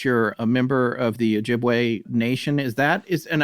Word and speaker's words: Ojibwe: a member of the ojibwe nation is that is and i've always wondered it is ojibwe or ojibwe ojibwe jib okay just like it's spelled okay great what a